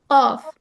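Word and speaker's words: ق: তো কফ উচ্চারণ হয় কিভাবে? তোমার জিহ্বার স্টার্ট যে জায়গাটায় হয়, হ্যাঁ, এটাকে বলে জিহ্বার গোড়া। ঠিক তার উপরে যে তালু আছে, সেইখানে স্পর্শ করে উচ্চারণ হয় কফ।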